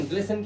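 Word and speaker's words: glisten: ग्लिसिन के अंदर हमारा टी साइलेंट है।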